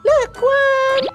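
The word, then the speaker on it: 乐观: Optimis, Lekwan. Sudah benar pengucapannya anak-anak.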